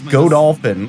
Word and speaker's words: Godolphin: It's Godolphin, like God Dolphin mixed together.